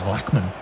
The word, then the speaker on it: Lachman: Actually, I believe it's Lackman. I'll let you off. It will be Lachman, but this is a British commentary, so we will pronounce it the British way.